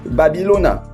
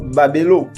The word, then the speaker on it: Babylone: Donc la prononciation authentique en Afrique, ça se dit Babylona ou alors Babelo tout simplement.